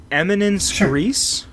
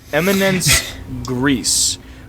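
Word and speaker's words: éminence grise: this please tell me the eminence thérèse you say yeah eminent priests no no the eminence grise but it's a French word one of those can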